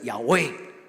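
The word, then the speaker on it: Yahweh: 因为犹太人唔敢读出来，但是伊读的音叫做亚威，亚威的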